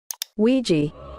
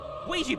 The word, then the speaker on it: Ouija: data analyst expert to give us the proper pronunciation of this word Ouija Ouija boards ladies and gentlemen these boards were named